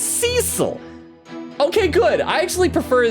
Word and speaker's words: Cecil: Magpie says, you listen to several episodes, but still can't remember that Cecil is pronounced Cecil.